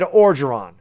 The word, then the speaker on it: Orgeron: Soft G. Okay, thank you. So it's Ed Orgeron.